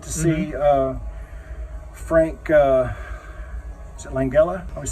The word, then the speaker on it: Langella: And so, like, I got to see Frank, is it Langella? I always say his name wrong. Frank Langella, yeah, the Langella.